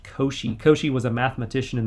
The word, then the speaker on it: Cauchy: reasonably easy to deal with it's called a koshi prior so c-a-u-c-h-y is pronounced koshi koshi was a mathematician in the 1800's who